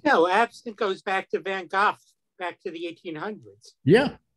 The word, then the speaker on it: Van Gogh: By the way, he pronounced it correctly. Van Gogh.